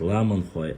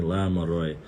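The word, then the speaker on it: Ламанхой: А наших называли Ламанхуай, те, которые проживали в горах, их правильно называют Ламанхуай, а не Ламарой.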